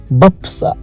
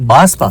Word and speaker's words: बासपा: यह है बासपा बपसा बापसा सॉरी बाप नहीं बासपा सॉरी बासपा बासपा पढ़